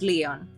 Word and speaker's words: Lion: where the name is written like like the animal lion but it's pronounced Leon so it's yeah I've